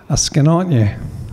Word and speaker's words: oughscanoyeh: Askenotnye.